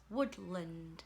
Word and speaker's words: woodland: Woodland, and the schwa sound is an a. Woodland, so the is an a, letter a.